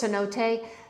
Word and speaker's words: cenote: So when I looked it up, it's a Spanish word. So Spanish and Italian, they're familiar or similar, but they're not the same. So I've been proning pronouncing it as an Italian. Um, which is wrong. So I know it's cenote, but I I kind of like chinote.